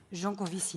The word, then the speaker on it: Jancovici: All right, and then your inspiration, you got it from Jean-Marc Jancovici, if I pronounce it correctly. Jancovici.